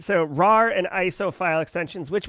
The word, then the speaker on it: RAR: like vba macro malware laced office documents using rar and iso yes that's how you pronounce that file extension all right so rar and iso file extensions which we talked about